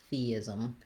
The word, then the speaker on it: theism: with letter U because if there is a vowel there, it's like a little reduced schwa sound. Ism, theism. So that ism ending, that is the same way we pronounce those ISM letters in other words with ism, like prism, or when that is a suffix like it is in theism. So that's a good thing